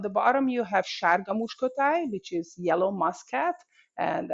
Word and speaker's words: Muskotáj: Muskotáj, yeah, Muscatel. Muskotáj.